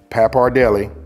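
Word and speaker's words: pappardelle: this noodle right here look these are pronounced papar Deli right and it's a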